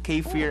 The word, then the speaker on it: kefir: ganito pero yun nga ano ah Ano yung kefir ba yan Opo Actually ang kefir po ay isang Turkish word ang ibig sabihin ay feel good kasi nga naman oo feel good kfar Actually ang pagpronounce niyon so ito y isang fermented na